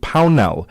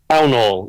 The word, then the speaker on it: Pell: We are still in conversation with Pell. Uh, I hope I'm pronouncing your surname correctly. Is it Pell? Pull. Yes. Like Town Hall with a P.